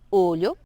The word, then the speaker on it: olho: y es, imagina, la, tienes que cerrar un poco más la boca y tratar de dejar la lengua pegada en los dientes en la parte de arriba. Y entonces, bueno, para practicar sería pronunciar la palabra ajo, ¿verdad? En portugués, que sería alho, ¿ok? ¿Qué otra cosa? Ojo, que sería olho.